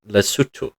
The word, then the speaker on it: Lesotho: pronounced it that way the country is pronounced lutu it has to do with the way the cutu language decides to spell its words but didn't we already